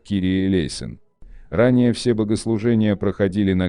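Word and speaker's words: Κύριε ἐλέησον: сочинили знаменитую песню 496 молитва Господи помилуй на греческом языке произносится как кирие лейсон ранее все богослужения проходили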